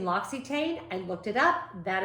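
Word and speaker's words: L'Occitane: Advent calendar uh don't give me grief about pronouncing Loxy Tain I looked it up that is how you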